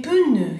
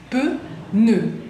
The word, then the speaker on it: pneu: Les pneus, esa palabra también es muy importante, les pneus son las ruedas de los autos, los neumáticos. Es complicado porque tenemos la P y la N que es p. Pneu, nœud, pneu, pneu, es.